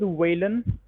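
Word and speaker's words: Waylon: Uh, my name is Whan. Whan. Whan. Can you spell it?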